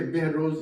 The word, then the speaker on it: بہروز: اچھا، 100% فارسی لفظ، ہاں، بہروز، بلکہ بہروز زیادہ صحیح تلفظ ہے، بہروز، اور بہروز سبزواری